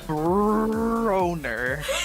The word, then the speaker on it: Broner: I pronounce the R very aggressively with that name for a reason. Broner.